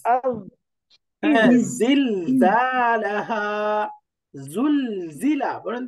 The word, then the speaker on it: زلزلة: আজ, হ্যাঁ, ইজ, আজ, অর্থাৎ এই উচ্চারণটা থাকবে ঝিঝি পোকার মতো। ইজ। আজ, হ্যাঁ, ইজ, জিল জালাহা, জুল জিলা, বলেন তো জুল জিলা।